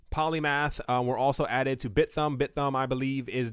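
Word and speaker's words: Bithumb: like a bit and it looks like a thumb so I'm gonna say bit thumb iOS T in polymath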